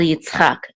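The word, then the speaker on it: יִצְחָק: And this is Yitzchak. Yitzchak. And the accent is on Chak. And that, of course, is. El Yitzchak, to.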